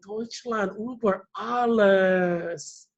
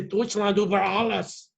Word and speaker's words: Deutschland über alles: Oh, I'm kind of using my American tone. Germans will not say it like that because intonation is kind of important. Intonation is where you put the stress on the word. So they will probably say Deutschland über alles.